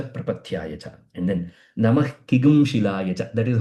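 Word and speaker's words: किंशिल: Okay, Kigum Shila. Even though the pronunciation is Kigum Shila, the actual word is Kim Shila. Kim Shila is the actual word. While pronouncing it becomes Kigum Shila.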